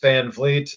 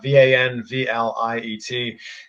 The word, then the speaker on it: Van Vliet: it's just my name VanFleet VA nvl iet and that is how you pronounce it by the way i'll